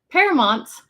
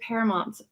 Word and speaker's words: Paramount: married, there's a city in Southern California called Paramount. Oh yeah. Which he is like, when I was growing up, everyone pronounced it Paramount.